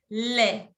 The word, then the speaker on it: lait: Non se prononce à la T. Du lait.